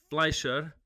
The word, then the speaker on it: Fleischer: Today we have Sarah Fleischer.